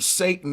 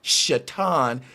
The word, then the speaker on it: Satan: And the word Satan is supposed to be pronounced Shatan.